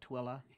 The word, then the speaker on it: Tooele: And if you've already learned Hurricane, and I know Tooele County, you've already learned it's not Tule, but Tooele.